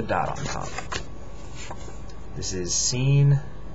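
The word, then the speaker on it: سين: on Top This is scene it's like two two little little dips and then one big dip at the end um yeah it's the S the Arabic s s we have it in English this is Sheen it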